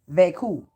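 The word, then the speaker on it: vécu: vacuu all right and you want to spell that v-e-c-u but it's pronounced veku so like v-a-y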